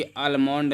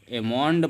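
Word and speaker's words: almond: तो यहाँ पे एल हमें नहीं पढ़ना है, हमने अभी क्या किया, गलत पढ़ा है, क्योंकि अलमोंड नहीं बल्कि एमोंड पढ़ेंगे। क्या पढ़ेंगे, एमोंड पढ़ेंगे, एल को नहीं पढ़ेंगे। ध्यान रखना है आपको, नियम है।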